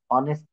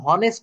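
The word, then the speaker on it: honest: অ্যান অনেস্ট ম্যান কেননা এখানে কিন্তু উচ্চারণ হনেস্ট হচ্ছে না এই তথ্যগুলো আপনারা একটু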